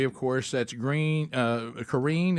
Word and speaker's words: Karine: course that's green uh Karen is how you say it Jean Pierre and so